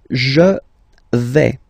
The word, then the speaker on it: vais: The first form is je vais. Okay, so remember, final S not pronounced here. Je vais. Okay, when you combine this AI, you get the sound A, really open, okay?